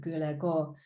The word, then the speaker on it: Guldagergaard: i met during a nakazato takashi workshop at gulego the international ceramic research center in denmark yes pronounced that right she said she would come